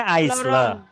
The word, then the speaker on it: aisle: Jadi begini teman-teman, ini kan tulisannya aisle. Aisle ya tulisannya. Tapi cara bacanya bukan aisle tapi aisle. Aisle ya, itulah bahasa Inggris ya. Aisle. Bahasa Inggris itu nyebelin banget ya, tulisannya aisle kok dibaca aisle.